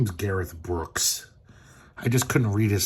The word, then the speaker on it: Brookes: His name is Gareth Brooks. I just couldn't read his sloppy embroidered signature on the cover. It's not Brooker. It's uh Gareth Brooks.